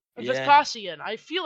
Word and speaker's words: Vespasian: Vespian? Yeah. Vespasian. I feel like I am. Vespasian. That's how it's spelled. I keep calling him Vespian though.